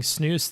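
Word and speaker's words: snus: you be better off snooze pronounced snooze like loose is a smokeless moist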